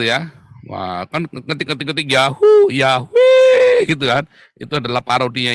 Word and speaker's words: Yahweh: Ya, saya bolak-balik ngajari bukan Yahweh ya. Yahweh Yaho kali. Itu tulisan YHWH itu bacanya bisa Yaho, saudara. Ya, memang bisa dibaca Yaho ya. Karena akhiran hey di belakang itu adalah perpanjangan wow di depannya.